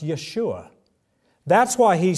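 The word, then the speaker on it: ישועה: It's pronounced Yeshua.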